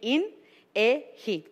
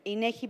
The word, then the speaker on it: INEGI: First, also we have to understand how to pronounce it correctly. So how you say it in English will be INEGI.